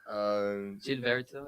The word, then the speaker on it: Gilberto: Gilberto. It's like Gailberto. G-A-I-L.